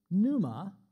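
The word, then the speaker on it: πνεῦμα: but the Greek word Numa next click pronounced with a silent p i put the Greek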